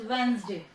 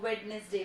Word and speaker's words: Wednesday: Pronunciation of this day इज वेंसडे. ठीक है. कई बार बच्चे इसको वेडनेसडे भी बोल देते हैं, कोई बात नहीं, लेकिन वेंसडे होता है इसका.